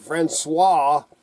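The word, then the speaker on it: François: or Fran franois that's how you say it franois and that is uh the early life of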